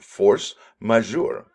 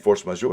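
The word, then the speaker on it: force majeure: a french term and it is uh the pronounced force measure and force major is a common clause in contracts which essentially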